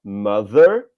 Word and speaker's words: mother: Então, observem, a palavra mother tem esse som de TH na sua segunda sílaba, porém ele é um som mais próximo da letra V, se a gente tivesse que trazer para um português, né? Mother. Já na palavra no número